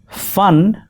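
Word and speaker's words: فن: be taken lightly because fun with a fa in Urdu means art, but pun with a pa means hood of the snake. Be careful, a small mispronunciation can turn your art into a snake.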